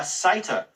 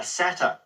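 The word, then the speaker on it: satyr: it it was actually a sata or a satter depending upon the pronunciation now the spelling of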